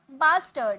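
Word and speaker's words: bastard: घटिया, बास्टर्ड, यहाँ पर आर का साउंड नहीं निकालेंगे, टर्ड, टर्ड बोलेंगे, ठीक है, बास्टर्ड, बास्टर्ड नहीं, बास्टर्ड, बास्टर्ड, ओके।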